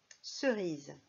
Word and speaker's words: cerise: Cerise. La lettre S dans cerise fait le son Z, comme dans valise.